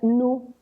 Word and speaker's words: Nu: Primero porque ni argumentan que se pronuncia nu en los países anglosajones y esto se podría confundir con la palabra new, que es nuevo, entonces dijeron esto causaría problemas, la descartan.